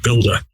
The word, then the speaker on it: Buildah: I call it Buildah. And of course, he made fun of my Boston accent where I don't pronounce the ER sound. I pronounce it AH, and that's where Buildah comes from.